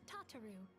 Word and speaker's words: Tataru: Oh, I should also introduce you to Tataru, our clerk. She ensures that everything runs smoothly. It's still weird hearing it's pronounced Tataru Pleased to make your instead of acquaintance.